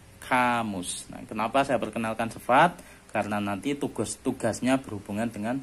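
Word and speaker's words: sıfat: Nggak pakai titik, bacanya sifat.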